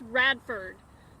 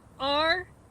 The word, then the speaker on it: Radford: It's spelled Q-U-O-R-N-E-L-I-U-S. Last name is Radford. R-A-D-F-O-R-D.